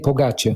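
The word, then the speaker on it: Pogačar: Young, I'm going to get his name wrong, and you did tell me pre-show. It's Tadej Pogacar. Pogacar, thanks, mate.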